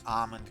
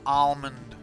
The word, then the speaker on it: almond: but I can pronounce Amond correctly. Arand. There we go. No, doesn't have an L in it. Well, it does have an L in it, but you don't pronounce it. It's not almond.